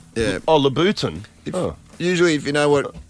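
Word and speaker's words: Louboutin: always Latin but yeah what how do you pronounce it sorry labutin yeah oh labutin usually if you know what color Souls they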